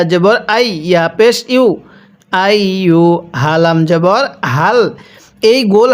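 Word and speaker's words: أيها: তাহলে ইয়া হামজা ইয়া জবর আই ইয়া পেশ ইউ আই হালাম জবর হাল এই গোল হা গুলো উচ্চারণ করার সময় মুখে একটু আওয়াজ করব এখানে আইুহাল এরকম ভাবে পড়বো না কিভাবে পড়ব আইহাল কাফ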